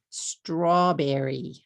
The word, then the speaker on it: strawberry: How about this word? Strawberry. Strawberry. Strawberry. 3 syllables.